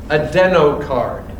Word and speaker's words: Adenocard: A stands for a deno card. A d e n o c a r d. Adenocard. Spell it again.